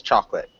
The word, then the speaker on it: chocolate: nice um one thing chocolate it's like two syllables chocolate I cannot hear you now so so the pronunciation of chocolate it just sounds like chocolate chocolate chocolate chocolate yeah we don't want that o sound so it's just like